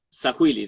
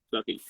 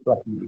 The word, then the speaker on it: Swahili: Claro, te iba a preguntar justamente esto de el Sahuili, ¿no? ¿Se dice? Que me dijiste, se Swahili, pronuncia Swahili. Bien. SW, Swahili.